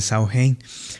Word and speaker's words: Samhain: Pues bueno, ellos lo llamaban el sain, el sain que representaba o o se escribe el Sam Ahin, pero pues se pronuncia el Sao Hein.